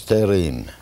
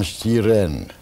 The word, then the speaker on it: Stern: We pronounce Stern. Some pronounce Sterin. Some Stiren. Uh-huh. Some Stirn. Mm-hmm.